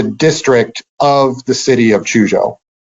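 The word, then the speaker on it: Quzhou: Airfield they were told in a place called Chucho or as it's pronounced and spelled now chujo Q Z hou uh one of the interesting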